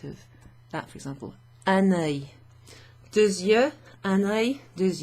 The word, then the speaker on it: œil: If you say it together, it sounds like you're saying annoy. Give it a French, the word annoy to annoy someone. So if you give it a French accent, annoy, annoy.